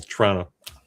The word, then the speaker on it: Toronto: Not Toronto. Here. It's kind of like It's almost like one syllable. Toronto.